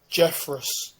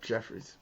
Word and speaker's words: Jeffress: Oh yeah, so I got his name wrong. It's Robert Jeffress. Does that ring a bell? Robert Jeffress.